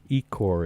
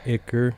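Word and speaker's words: ichor: who may have been scared, but that was eor. Is that how you say that, Himmlow? Uh, not how I say it. How do you say it? Icar.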